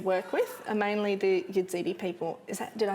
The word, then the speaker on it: Yazidi: yeah yeah yeah okay there's a few different ways of saying it depending on who you talk to so aziti or yazidi okay um yeah so